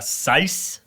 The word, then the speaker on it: syce: It's sice. Can you spell that?